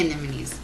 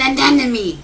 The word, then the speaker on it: anemone: to see an enemy it's not an anemy it's an anony same rule in the